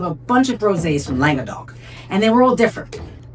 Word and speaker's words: Languedoc: I originally pronounced Langok. I kept going Langok and then I Googled it and it's Langodok.